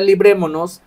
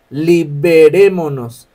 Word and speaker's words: librémonos: De momento, esa palabra librémonos visualmente se puede ver como liberémonos. Liberémonos. Y no es liberémonos, es librémonos.